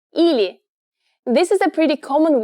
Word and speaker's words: или: Pronounced ili.